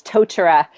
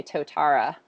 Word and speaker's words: Totara: And it took me a really long time to learn how to say it, because I wanted to say To-tara. But Totara.